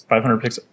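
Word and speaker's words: 500px: oh yeah 500 yeah is it how is it pronounced it says 500 is it like pixels yeah 500 pixels it it's amazing I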